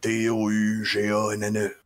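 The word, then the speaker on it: Douganne: Ça s'écrit comme ça se prononce, j'imagine? D-O-U-G-A-N-N-E.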